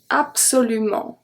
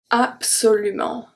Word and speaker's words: absolument: um and not when bs in the middle of the word is pronounced ps we have absolument absolument this one is also